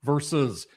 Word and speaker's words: versus: We're still doing the verse thing as well. Like the Canucks verse the Leafs. There's a second syllable to the word versus, but we'll work on that for another day.